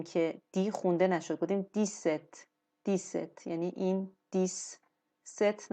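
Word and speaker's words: dix-sept: اینجا ما دیدیم که دی خونده نشد گفتیم دیست دیست یعنی این دیس ست نگفتیم دیست گفتیم میتونیم باز اینم ببینیم تلفظش تلفظش تلفظش دیست دیست دیست دیست خب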